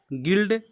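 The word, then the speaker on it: guild: आगे देखिए, linger, गिल्ड, गिल। इन word में भी जी के बाद ई या आई आया है लेकिन हम इसको ग पढ़ रहे हैं।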